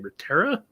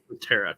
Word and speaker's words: Reterra: Reterra? Reterra, yeah. Reterra, because there's 2 R's. You might have to roll the R's. I can't roll R's. I can't either. It's Reterra. Hey, Scott.